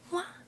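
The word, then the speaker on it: は: Now, there is a very commonly used particle in Japanese called wa, and this is written with a hidakana, ha, but it's pronounced wa when it's used as a particle.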